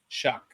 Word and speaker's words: Shuck: Shuck is the pronunciation of his last name.